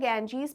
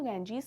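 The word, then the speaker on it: Ganges: अंग्रेज़ों से गंगा को सही प्रोनाउंस नहीं किया गया था, गैंजीज ही कहते थे।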